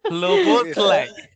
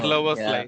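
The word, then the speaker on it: Szoboszlai: Sloboslai. Oh, I'm going to That tongue twister. tongue Sober, twister, sober. Sloboslai.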